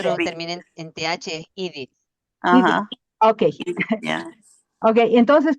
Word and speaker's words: Edith: Por ejemplo, mi nombre es Edith, pero, y se escribe Edith, En Estados Unidos, si alguien lee mi nombre, no va a leer Edith. ¿Cómo va a leer? Edith. Y yo he oído que dicen Edith.